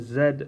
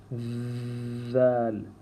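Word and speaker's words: ذ: But remember that we do not make a Z sound. It's not Z. It's with the tongue in between the teeth, and we say Dhal.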